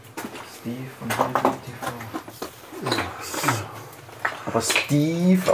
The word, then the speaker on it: Steve: Aber Steve ausgesprochen.